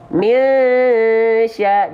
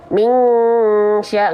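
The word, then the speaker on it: مِنْ شَرِّ: Misya. Jadi ketika kita lafalkan mi, itu sambil siap-siap melafalkan huruf berikutnya, itu shin.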